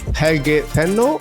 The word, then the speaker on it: Helge Tennø: advocate for adaptiveness and customer electricity in business hel Teno hel did I pronounce it well that's very good very good